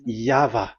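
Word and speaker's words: YHVH: The original one is V, and there is no more explanation. But that is the phonemes, the pronunciation. Pronunciation is equal V. It is V. Y H V H. So it is YAHVAH.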